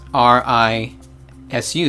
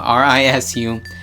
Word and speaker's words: risu: squirrel, and it starts R-I-S-U. That's how you spell it, R-I-S-U. So it's risu, risu. So you just flick your tongue, and that's the R-L combo sound.